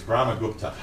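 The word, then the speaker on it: Brahmagupta: wrong but it's interesting okay how do you pronounce it it's brahma gupta um quite a well-known indian mathematician we're in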